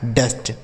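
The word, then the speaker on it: dust: ट लिखा है जस्ट डी यू एस टी डी से हो गया ड। यू का उच्चारण अ हो गया। एस से आधा स टी से ट ये लिखा गया है डस्ट।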